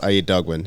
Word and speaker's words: Aiyedogbon: It's pronounced I N Dogon. Okay, I N Dogon.